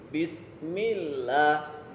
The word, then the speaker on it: Bismillah: Haknya ditekan, ni-nya ditekan, ya. Milnya tipis. Walaupun mil ini bertemu alif lam lafzul jalalah. Ya. Karena dia harokat kasroh dibaca tipis. Bismillah, bismillah, bismillahirrahmanirrahim.